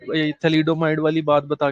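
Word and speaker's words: thalidomide: थैलामाइड करके एक चीज आई थी। एक मिनट में मैं क्लियर कर देता हूँ कि स्पेलिंग क्या है। थैलोमाइड या थैलामाइड करके, थैलिडोमाइड है शायद। हाँ हाँ, थैलिडोमाइड।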